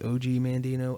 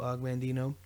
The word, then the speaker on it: Og Mandino: one is from augmentino depending on how you say his name some people say o.g mandino agmandino all right so the